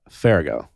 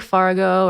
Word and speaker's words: Farago: those things where it's it's pronounced just the way it's spelled yeah some people say like fargo or some people even say ferragamo i'm like where did